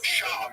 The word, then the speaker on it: Schaub: It's Schaub.